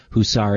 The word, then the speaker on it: Huszar: Twitter account and it's his name Andrew husar and harar is spelled h s z well and it's interesting